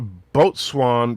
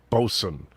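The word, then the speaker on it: boatswain: says hey check an indie tiger it's a boat swan but pronounced bosun it's weird boat swain uh lots of things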